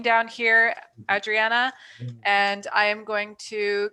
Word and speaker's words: Adriana: dollars adriana um i want to pronounce adriana that's what they my family would call me in mexico uh i see you